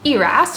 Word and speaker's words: ERAS: love what i do moving on to eras or eris depending on who you are and how you pronounce it so i'm gonna go